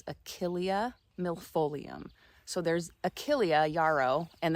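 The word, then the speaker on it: Achillea millefolium: And I believe that the proper way to say the name of this plant is Achilia milolium.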